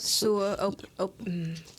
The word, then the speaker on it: Sua: Sua.